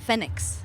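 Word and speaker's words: Phoenix: just like to let you know how i pronounce the last band band's name that we just heard fenix fenix for the win so what was it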